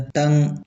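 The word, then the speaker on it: tongue: टंग टंग में भी यू E silent रहता है।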